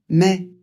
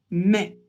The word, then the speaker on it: mai: Avril mai. A et I, ça fait e. Donc on prononce mai.